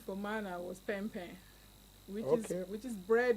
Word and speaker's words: pain: from so our first name for Mana was P which is which is bread in French yes and then because it's spelling it's spelled as p a i n so gambian